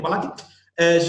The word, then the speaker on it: Tamalaki: I pronounce it okay? Mm-hmm. Okay, yeah. Tamalaki.